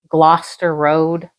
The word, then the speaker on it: Gloucester Road: I was on the tube going to Gloucester Road.